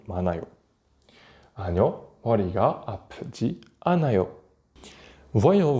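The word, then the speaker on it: 많아요: Anayo, comme avec manta qui devient manayo.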